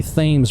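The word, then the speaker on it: Thames: in gron Connecticut so this is the themes river which is spelled like the Tims but if you live in Connecticut you call it the themes River and here is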